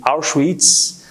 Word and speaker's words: Auschwitz: destaca muito é o campo de Auschwitz é a pronúncia é o que mais eu consigo me aproximar da pronúncia em alemão Mas eles foram levados